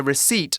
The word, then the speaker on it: receipt: their receipts now a receipt look it's a tricky word to spell r e c e i p t we don't pronounce the p just receipt a receipt is a